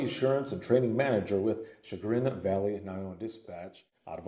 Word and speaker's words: Chagrin: Chagrin Valley Okay. Dispatch. Yep, I know. A lot of people mispronounce it.